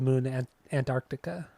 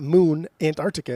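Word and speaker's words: The Moon & Antarctica: than I could the moon an Antarctica I said it right see there you go you didn't say and though yes I did I said Antarctica it's not Moon Antarctica it's Moon and that's what I said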